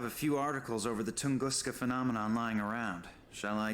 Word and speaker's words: Tunguska: It's really neat that they actually say Tunguska correctly. It should be a little, yeah, like pronounced more like that, but I guess Tunguska